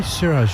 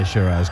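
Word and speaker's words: Siraj: about uh Muhammad S I say sirz you say shiras yeah yeah it just feels counterintuitive I know I should say shiras cuz that heard his name pronounced out but anyway what was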